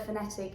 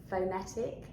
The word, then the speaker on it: phonetic: think that the word phonetic is pronounced phonetic yeah but it's not the case it's the schwa sound at the beginning so phonetic but it's